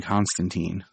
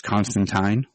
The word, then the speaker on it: Constantine: was interesting because also they went with the british i guess proper pronunciation where it's constantine yeah and i was